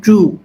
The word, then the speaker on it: Zhu: I'm Professor Zhu.